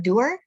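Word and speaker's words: Doerr: Measure What Matters by John Dewar. Is that how you say his name? Yeah, that's it.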